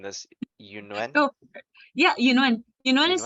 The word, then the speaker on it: Yunuen: Correct me if I'm wrong, if I'm mispronouncing this. Yunuen?